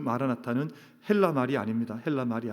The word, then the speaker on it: 마라나타: 오시옵소서 주님이여, 이런 뜻을 가지고 있는데, 이게 발음과 그리고 강세를 따라서, 영어도 그런 표현이 있지만 때로는 이게 액센트가 앞에 있냐 뒤에 있냐에 따라서 의미가 달라지는 것처럼 마라나타라는 단어도 아람어도 그렇습니다.